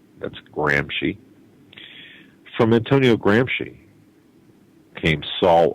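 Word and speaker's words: Gramsci: study you need to research the last name is spelled g r Ms C that's gry from Antonio gry came Saul Alinsky and of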